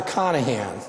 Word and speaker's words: Carnahan: How many of you have referred to Pastor Carnahan as if there's no R in there?